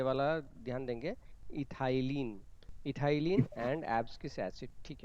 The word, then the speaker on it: ethylene: Okay, सभी लोग इस प्रोनाउंसिएशन ये वाला ध्यान देंगे, इथाइलिन, इथाइलिन and abscisic acid.